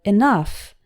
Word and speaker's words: enough: instead in some words ough is pronounced like F in stuff as in the word enough which means sufficient for